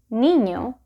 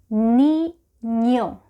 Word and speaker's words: niño: So this is a sound that does not exist in English, but it is not difficult to pronounce at all.